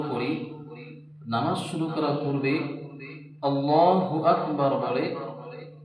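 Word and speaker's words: الله أكبر: ভুল করে কেমন হয় ভুল করে অনেকে পড়ে আল্লাহু আকবার আবার অনেকে বলে আল্লাহু আকবার বল টান দেওয়া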